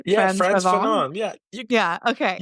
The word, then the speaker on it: Frantz Fanon: So I don't even know if I'm going to say his name right, but Frantz Fanon. Like, this is my attempt at French. Yeah, Frantz Frantz Fanon.